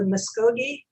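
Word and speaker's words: Muscogee: Shanti is an enrolled member of the Muskogee Creek tribe. Did I pronounce it correctly?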